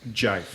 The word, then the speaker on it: GIF: I think it's pronounced jive. Nope. I think Jive is right. having that Jive is conversation right. again. I've also heard jive.